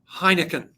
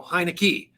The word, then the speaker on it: Heinecke: Chenault it's Adrian Chenault and it is Heineken no heinecke no heinek heineck that's how you say